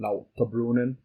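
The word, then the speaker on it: Lauterbrunnen: want to say it like the Swiss person la brunin la brunin it's like vengan steckelberg um this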